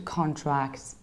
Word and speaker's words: contract: how about this one it's a verb so we can't say here two contracts because that was a noun here we need to say so contract to contract so we ship the stress and it ships from the third beginning to the very end and we have can